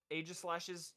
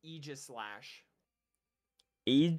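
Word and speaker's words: Aegislash: you ever heard um AIS Slash's technical pronunciation no it's Eis slash e Eis slash e because it's name is derivative of egis that's so weird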